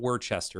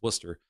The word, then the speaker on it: Worcester: Now it's not Worcester, it's Worcester. Massachusetts, the rules of tipping while growing up were easy to grasp.